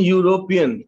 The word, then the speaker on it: european: a university right second european european year same year sound is there third one rupees note